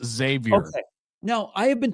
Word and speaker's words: Xavier: Gary, there's no way that anyone told you to say Xavier. No one said that. That did not happen. I don't say it egg. That's just kind of how it sounds. I pronounce it Xavier.